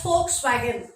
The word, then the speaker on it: Volkswagen: V, it's pronounced as Volkswagen, because in German V is pronounced as F, and in German 4 is written this way, V-I-E-R.